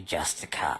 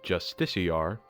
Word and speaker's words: Justiciar: their wrists with every Justica I slay on the road below. Not to be granular, but I believe it's pronounced Justiciar.